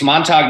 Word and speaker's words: Montauk: just uh mispronounced Montage it's Montage it's Montauk New York that's what they said